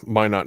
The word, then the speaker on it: Minot: Is that how that's pronounced? That's, yeah, Minot, North Dakota.